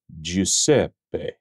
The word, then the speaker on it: Giuseppe: you say this Italian male name it is pronounced jpe jpe jpe jpe the uninitiated will usually say